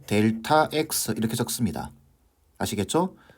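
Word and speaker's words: Δx: 세모 X라고 적고 읽을 때 델타 X 이렇게 적습니다. 아시겠죠? 세모 X라고 적고 이거 기호입니다. 기호. 델타 X라고 읽는 거예요.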